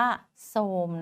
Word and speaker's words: โทรม: ูม ทร อีก แล้ว ไม่ ออก เสียง นะ คะ ออก เสียง เป็น ซ โซ่ ค่ะ ก็ เลย อ่าน ว่า โทรม นะ คะ คำ สุด